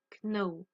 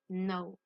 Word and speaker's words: know: Alors, très important pour ce verbe-là, le K est une lettre muette. D'accord? On ne prononce pas le K. On ne dit pas know. On dit know.